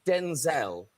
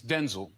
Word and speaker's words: Denzel: I was calling you Denzel. Is that correct? Actually, it's Denzel. Oh, no, is it really? Yeah, but... So was your dad Denzel?